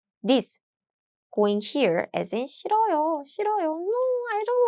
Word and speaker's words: 싫어요: And do you hear my pronunciation? This hue sound is gone.